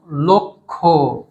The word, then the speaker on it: লক্ষ: কি উচ্চারণ হবে দক্ষ একই রকম লক্ষ অর্থাৎ ল এর সঙ্গে যে অ ছিল সেই অ টা ও হয়ে গেল আচ্ছা এরপরে কি আছে